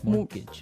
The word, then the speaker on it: mortgage: with a t yeah it has a t in it but you don't pronounce it you say mortgage morgage so not Mort mortgage